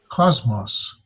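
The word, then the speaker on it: κόσμος: have two valves so two syllables cause moss cosmos Carl Sagan the the late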